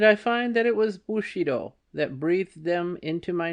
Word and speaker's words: Bushido: wife I found that without understanding feudalism and Bushido footnote pronounced bu sh do in putting Japanese words and names into English